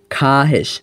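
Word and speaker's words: خواهش: এ কারণে এটিও মুয়ান্নাস একটা কথা মনে রাখবেন এই যে খাহেশ এর মধ্যে যেই ওয়াও টা রয়েছে এই ওয়াও টা লেখায় আসবে উচ্চারণে আসবে না কেন আসবে না এ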